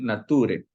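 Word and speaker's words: naturae: en la página 22 cuando la a y la e Están juntas se pronuncia como una e y la t cuando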